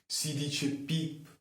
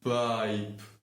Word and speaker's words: piep: My God, you’re so incompetent, it’s pronounced /pip/ kick, not /paip/ kick! Do you get this?